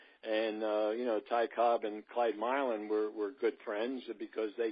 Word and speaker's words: Milan: Well, George, I want to thank you because I always referred to him as Milan, like the city in Italy. I didn't know that Milan was the correct. First time I learned that Milan was the correct pronunciation of his name.